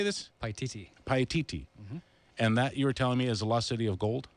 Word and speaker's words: Paititi: Paititi.